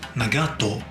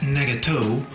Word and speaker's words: Nagato: this dud nagato now I am going to pronounce him as nagato not as Nago or however you pronounce